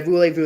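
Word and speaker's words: Voulez-Vous: haven't already done it yeah voule Vu that's how you say the album voule Vu yeah that's I was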